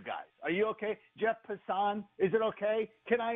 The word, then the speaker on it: Passan: And just so you know, Jeff Passan pronounces his name Passan.